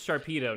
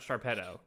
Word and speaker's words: Sharpedo: But we can all agree this is Sharpedo, not Sharpetto. Yes. Okay. It's based It's because it's based on torpedo.